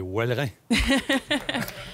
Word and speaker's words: Ouelrins: Faut bien que je le prononce. Les Wellerins.